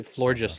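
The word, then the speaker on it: Floragato: I say florious like gorgeous.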